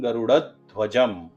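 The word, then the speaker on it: गरुडध्वजः: उसके बाद है मंगलम गरुड़ध्वजः, और एक है मंगलम गरुड़ध्वजम।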